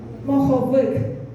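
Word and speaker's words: моховик: We start with m, o, h, o, v, k, and together it's good, but the stress is at the end. So let's do syllables. Mo, ho, vik, mohovik.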